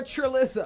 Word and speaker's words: Trelissa: You're Trelissa.